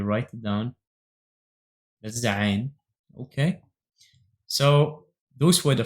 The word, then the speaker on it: Ayn: Then the last but not least is the AYN. The AYN might be hard to pronounce for those who don't speak Assyrian-Aramaic or another Semitic language like Arabic. It's the AYN sound which comes from your throat.